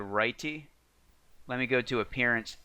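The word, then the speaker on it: Writee: So the theme that I selected to install is called Righty.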